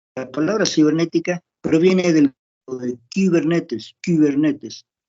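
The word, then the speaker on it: κυβερνήτης: Porque la palabra cibernética proviene de Kubernetes, K-Y, Kubernetes. Esa Y se pronuncia como la U francesa, Y.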